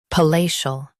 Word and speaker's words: palatial: palatial Now, read the syllables shown on the screen naturally. pa lay shul palatial Emphasize lay and soften shul.